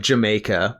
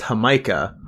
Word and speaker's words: jamaica: lemonade uh there's a it looks like jamaica but i'm pretty sure it's pronounced hamika because it's like the i think it's basically hibiscus um limeade which is also